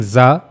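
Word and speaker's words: ز: In zal we were reading the zal soft zal but while reading zah you have to read it in strong voice.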